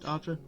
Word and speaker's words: Arga: So Argera, which is spelled Arga, but it's pronounced Arja.